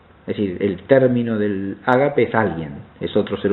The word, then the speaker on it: ágape: El tercer tipo de amor es lo que el griego llama ágape, pronunciándolo de manera castellanizada.